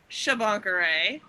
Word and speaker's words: Shabankareh: And so in honor of episode 10, we have our friend Shabankareh.